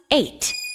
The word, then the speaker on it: ate: A-T is at, but with a silent E at the end, it becomes ate.